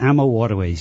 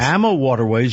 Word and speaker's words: AmaWaterways: you founded AMA waterways you called it Arma waterways is that how one pronounce it we pronounce it ammo waterways yes ammo waterways you founded that several